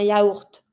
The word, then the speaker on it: yaourt: A yogurt, un yaourt. And this one, because we took it from the English word, you pronounce the T, un yaourt.